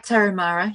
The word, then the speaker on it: Tarahumara: And you think of the I think it's the Tarahumara, I'm probably mispronouncing it, but the tribe that runs in the minimalist sandals, the homemade sandals, basically. And yeah, you were right, Tarahumara, yeah.